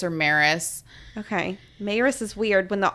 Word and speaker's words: Maris: While Clary is giving Simon the rundown, Luke chimes in and corrects the pronunciation of Maris's name. He breaks it down as Mayris. Is that? Mayris. Mayris? Is that what it is? I mean, that's how I've always heard it say is Mayris or Maris.